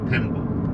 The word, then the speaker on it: tembo: faru And then elephant tembo. tembo tembo, yeah. T E M B O, tembo. tembo, okay. Yes. Love that. Yes. Quite different pronunciation between jumbo and the tembo.